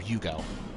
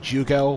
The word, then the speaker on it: Jugo: Alright, so you can get a new jester from Benhart of Hugo. Jugo. I'm sure it's pronounced Jugo, but I like the pronunciation from Hugo more.